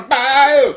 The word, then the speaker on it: bayou: Born on a bayou. Then you can say it properly. No, was that right? Bayou. That's how you say it. Okay. You gotta say it like Fogerty.